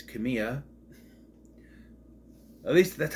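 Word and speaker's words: Kamiya: them there's Tai Kamya although sometimes it's pronounced Kamaya is he pronounced hey Mrs Kamaya it's Kamya at least that's how to pronounce It season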